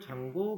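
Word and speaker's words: Django: 똑같이 치셔야 됩니다 인스 장고 y 클라이언트라고 할 겁니다 고라고 하는 애가이 앞에 있는가 무음이라 발음이 고일 뿐이에요 얘는 그냥 얘 이름이니까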